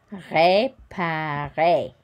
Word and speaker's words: réparer: And we don't pronounce the final R.